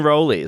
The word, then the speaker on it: Rowley: family in ipswitch Massachusetts the town next door is Rowley um where we go to get our um our Provisions because there's a Market Basket or as they as they pronounce it that Market Basket um but it's it's always been roly so even though you